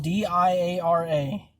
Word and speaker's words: Diara: Her name is spelled D-I-A-R-A. It's Diara.